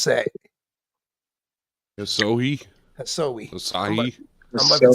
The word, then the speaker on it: Asahi: Yeah, be He's like, so high is how it's pronounced.